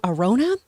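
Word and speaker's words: Arjona: Someone who I'd add to the mix, Adria, I think you pronounce her last name, Arona?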